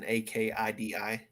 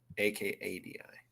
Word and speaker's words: Akadi: Is Akkadi as in Akidi? It is spelled Akadi. Akadi.